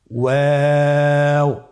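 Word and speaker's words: واو: আপনারা আমার সাথে বলুন ওয়াও ওয়াও। 2 ঠোঁট গোল করে মাঝখানে ফাঁক রেখে হরফটি উচ্চারণ করতে হবে।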